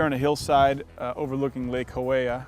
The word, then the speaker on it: Hawea: We're here on a hillside overlooking Lake Hawea. I think it's pronounced Hawea, H-A-W-E-A, or Hawaii if you're from Boston.